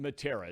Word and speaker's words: Matera: It is pronounced Matera. Is that correct? Yes, you nailed it.